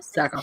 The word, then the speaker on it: Sackhoff: And then also they just announced this, but Katie Sackhoff, is that how you say it? Sackhoff, yep.